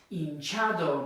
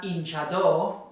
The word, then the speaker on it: hinchado: at the end again, hinchado, now it's the second to last. Notice it's not hinchado like it is hinchar, it's hinchado, okay?